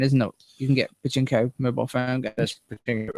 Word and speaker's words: Pachinko: It's called, now I've got to get this pronunciation right. Pachinko.